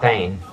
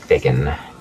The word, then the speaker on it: thegn: THEGN being an old spelling of THANE. Yeah. It is not pronounced Thegan, unless you really want it to be.